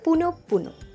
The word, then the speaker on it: পুনঃ পুনঃ: অনেকেই উচ্চারণ করে থাকেন পুনঃ পুনঃ, উচ্চারণটি হবে পুনঃ পুনঃ।